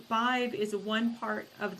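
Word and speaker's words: Badb: I heard the word five which spells b a d b but it's pronounced b i v so five b a d b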